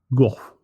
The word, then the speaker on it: Gogh: On the 29th of July, 1890, Vincent van Gogh, or how do you say it in Dutch, Buck? It's Goff. Yeah, something more like Goh. Not go, as some people say.